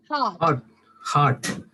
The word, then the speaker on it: heart: in poems right so when i say heart do i pronounce the r or do i not pronounce the r chris please say heart for me chris heart so are you pronouncing the raw uh chris no ma'am no ma'am no ma'am directly it goes to t yeah so you directly